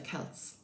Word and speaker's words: Celts: But that's where the name comes from, the Celts. And we give it a hard C.